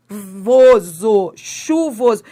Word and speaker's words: chuvoso: Você pronuncia esse H? Não, você não pronuncia. Se você pronunciasse, sabe como é que seria essa palavra se você pronunciar? Seria assim, ó. Seva. Seulva. Você teria que falar algo desse tipo. Não, esse H não é pronunciado, é dígrafo e dígrafo consonantal.